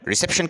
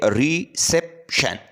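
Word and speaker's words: reception: कहते हैं इस्तकबाल को तो इसके अंदर तीन सिलेबल है रिसेप्शन ठीक है तो इसमें जो सेकंड सिलेबल है इस पर ज्यादा जोर दिया जाता है तो लिहाजा इसमें सेकंड नंबर जो है सिलेबल वो स्ट्रेस सिलेबल है नेक्स्ट है कंपैरिजन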